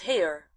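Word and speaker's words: Haigha: His name is Hair. He pronounced it so as to rhyme with mayor.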